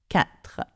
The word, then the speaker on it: quatre: So we don't say R, we say R. Can you say that? R. So when you come to say 4, it's 4. 4.